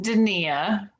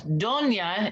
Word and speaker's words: Dania: Well, it's pronounced Dania. Dinia. Dania, phonetically spelled, like Okay. Dania. Dinia. But it's Donia in Italian.